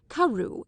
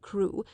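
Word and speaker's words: Crewe: difference in the name Madame Pascal pronounced it as if it were Karu instead of crew but that might merely be a matter of pronunciation the circumstances were curiously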